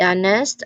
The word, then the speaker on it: honest: And then you have our and honest. Our, we've already mentioned it earlier. Honest, where also H is definitely quiet right from the start of the word.